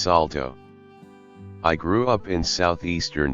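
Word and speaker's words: Saulteaux: Aboriginal my mother was Manitoba Salto Cree pronounced Salto I grew up in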